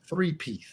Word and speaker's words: Threepeeth: So the album, the name of it is 3Peath. It's spelled like that.